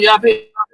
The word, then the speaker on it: Jappy: Says morning, How you going, Yappy? Yappy. Yeah, they actually pronounce their J's as a Y.